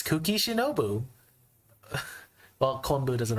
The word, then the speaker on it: Kuki Shinobu: The second word starts with an S, ends with a U, and rhymes with Konbu. That's right, it's Kuki Shinobu.